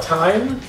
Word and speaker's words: thyme: that's what he's called time well that's called time yeah it's t-h-y-m-e yeah like rhyme with thyme yeah so you could